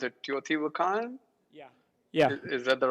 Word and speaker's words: Teotihuacan: How do you pronounce it? Teotihuacan?